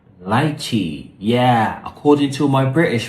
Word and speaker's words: lychee: So you pronounce it like L-I-T-C-H-I, lychee. Yeah, so lychee, lychee, either one is fine.